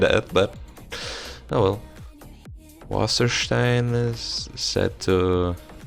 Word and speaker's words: Wasserstein: Theatre Development Fund, Swenny Wasserstein. Waterstain? This part is probably not. It doesn't. Sounds German. Wasser. I believe is water. Stein. Wasserstein. That might be how it's pronounced, but.